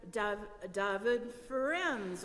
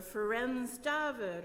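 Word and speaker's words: Ferenc Dávid: slide of uh um you'll hear sometimes you'll hear David friends or friends David or Francis David or many different pronunciations whether you're in Romania or English speaking Francis David um he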